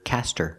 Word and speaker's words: cast her: vote cast her vote but the H is silent because her is not a stressed word in this sentence so you hear Cas her cter she's about to